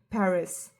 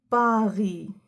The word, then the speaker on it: Paris: For example, porte, pomme, Paris. In English, we have a bit of aspiration. We'd say Paris. But in French, we'd say Paris.